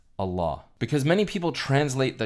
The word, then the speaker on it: Allah: And when you put el ilah together in the Arabic language, it combines to be pronounced as Allah.